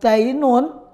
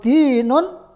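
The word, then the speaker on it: دين: Awas, jangan salah baca. Kalau dainun itu hutang, kalau dinun agama.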